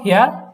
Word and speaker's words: Herr: উচ্চারণটা কি হবে? হ্যার না হেয়ার, হেয়ার, এই হেয়ার, হেয়ার, হেয়ার। হেয়ার, একদম সিম্পল, হেয়ার।